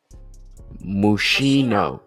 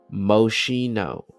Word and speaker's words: Moschino: Mushino. Mushino. Okay. Yeah, you got some Mushino. Common mispronunciations. Moschino.